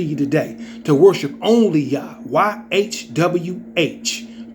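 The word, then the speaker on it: YHWH: today to worship only why HWH pronounced yah songs 68 and for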